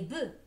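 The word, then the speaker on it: bœufs: pluriel un boeuf des boeufs le f ne se prononce pas au pluriel à vous maintenant voilà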